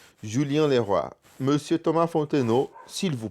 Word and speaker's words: Leroy: Então, Leroy se escreve com OY no final. Normalmente em português a gente falaria como isso? Leroy, certo? Mas aqui a gente fala Leroy.